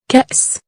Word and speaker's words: كأس: كان سي كأس. The letter Alef has no vowel, so we put this circle shape above the letter, to indicate that the letter Alef is silent.